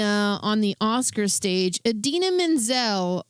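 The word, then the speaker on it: Idina Menzel: Adena Menzel. Uh or as he called her, Adella Dazim. Her name her name is Adena Menzel.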